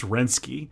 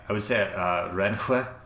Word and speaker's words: Renske: Surely it's not pronounced Renski. How do you say it? You said Renske. Like Rensk? I would say Renhue.